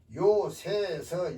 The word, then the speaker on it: 요새: 그다음 왜 마지막 요새 요새에서 여기서는 어 주의해야 됩니다 새로 발음한 것이 있고 색으로 발음하는 경우도 있다 여기서는 요새입니다 여기서는 성체세요 요새 그래서